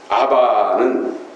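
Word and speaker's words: אבא: 아바는 아라몬입니다. 아라몬으로 아바 그대로 말 그대로 발음이 아바예요. 아바.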